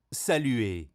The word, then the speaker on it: saluer: Saluer. Salut e anche qui ce l'hai muta. Finisce con ER, si sente E, saluer.